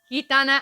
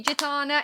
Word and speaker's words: Gitana: Okay, it's actually pronounced Gitana. I don't mind if you say Gitana, it's fine.